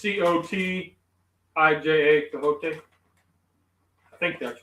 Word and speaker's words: Cotija: How do you pronounce the cheese? Jojote, carita, fajita, carita. I don't know. Cajote. It's Cotija, cajote.